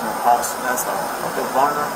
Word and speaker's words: Barnum: Okay, Barnum. How do you spell it? B-A-R-N-U-M. B-A-R-N-U-L. M-U-L. M-N-U-M. B-A-R-N-U-M. M-U-N-U-M. Barnum. Like Ringling Barnum and Bailey Circus?